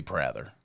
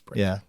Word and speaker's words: Prather: The correct pronunciation, if you read it, should be Prather because it's two consonants on either side of a vowel. Gotcha. That's Prather. Yeah.